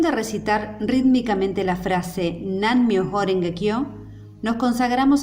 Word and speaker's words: Namu: Cuando este término anteceda una palabra comenzada con M como Myoho, generalmente la U final no se pronuncia. En la acción de recitar rítmicamente la frase Nan Myoho Renge Kyo, nos